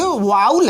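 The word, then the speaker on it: vowel: Wavell, जिसको हम Wavell, लेकिन वावेल शब्द ये गलत है। ये आपको अधिकांश लोग पढ़ते हैं वावेल, लेकिन ये वाउल है, वाउल, इसको हम पढ़ेंगे वाउल। तो ये अगर आप इसको देखेंगे तो इसका प्रोनाउंसिएशन यही होता है, माने वावेल नहीं, वाउल।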